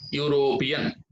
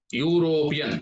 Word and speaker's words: European: mr david is a european european here also we have to use the sound of you european before this one also